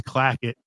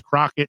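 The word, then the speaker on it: Clackett: times in the film her name is Miss clacket and on stage he calls her Miss Crockett clockit cracket blacket sprocket scratch it splotch it and this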